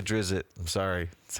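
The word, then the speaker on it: Drizzt: I like to say Drizzit. I'm sorry. That's how I like it. But I know that it's pronounced Drizzed.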